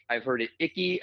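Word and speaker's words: Icke: I've heard it icky I've heard it e like I have no idea how to say it that dude I I knew about him before I started anything and I still to this day don't know how to say his name yeah so from the the common consensus I've heard is Ike all right uh David Ike um okay we're going with that all right and so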